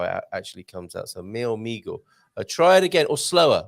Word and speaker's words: meu amigo: Please help me with the correct pronunciation of mio amigo. Did he say something terrible, possibly with a bad pronunciation there? Hola, bon dia, meu amigo. Maybe. But bom dia, meu amigo. Bom dia, meu amigo. Meu amigo, meu amigo.